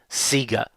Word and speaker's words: Sega: How you pronounce it seems to depend on where you grew up. I understand that Sega is correct. However, in Australia, even their own promo material seemed to say Sega for a very long time.